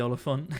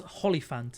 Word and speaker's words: Hollyphant: So anyway, now we can kill the Oliphant. Yeah. It's Hollyphant, isn't it? With an H, yeah. I think. Because I was also saying it wrong last stream.